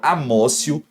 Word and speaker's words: amotio: pacífica mas sim a teoria da amosso se escreve amotio mas se fala ócio ou teoria da apreenso